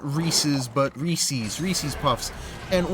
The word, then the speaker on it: Reese's: like left left a cup of cereal of reese's puffs right i know it's pronounced reeses but reese's reese's puffs and when i went